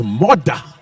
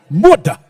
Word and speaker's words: Murdah: Which, if you're from Scotland, it's all right, it's Murdah. Murdah. But in English, it's badly spelled.